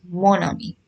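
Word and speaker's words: mon amie: of the feminine form so we don't write it as maami we write it as Monami m n so see the difference in the pron pronunciation je ma Ami and Jem Monami here we are speaking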